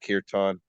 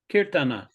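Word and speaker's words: kīrtana: time Zach is that kirtan kirtana oh okay yeah yeah I know sometimes the a is silent yeah sometimes it's silent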